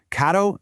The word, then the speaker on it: caro: A single R is a really quick, soft flap of your tongue against the roof of your mouth. It sounds almost like the D sound in the word ladder. So, caro means expensive, but a double R, well,